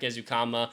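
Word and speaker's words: Ezukanma: out how to say my boy's name Eric ukama Texas Tech Legend I love Eric ukama Great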